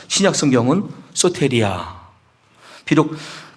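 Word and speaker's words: σωτηρία: 소테리아라고 읽으면 되고요.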